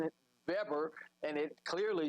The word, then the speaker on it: Weber: to europe uh specifically in germany the w is pronounced with a v and so in america